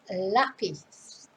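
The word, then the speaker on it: lápiz: the accent is so it's not lapis it's lapis but stress is on the first syllable lapis and then they might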